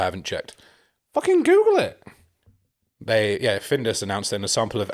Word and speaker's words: Findus: It's not. It's Findus. There we go. Findus. There we go. That's what it is. It's not Finders.